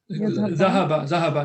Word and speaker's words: ذهب: Zahaba, not yazhaba.